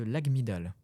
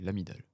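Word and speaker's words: amygdale: Le G ne se prononce pas. C'est l'amidal. Non l'agmidal non c'est une région du cerveau. Ce sont les amidales. Oui c'est par rapport à la mémoire. Et ben, j'ai prononcé le G. Je devrais pas prononcer le G.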